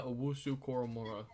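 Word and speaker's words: Owusu-Koramoah: I don't know how to pronounce it. Jeremiah Owusu Koromora.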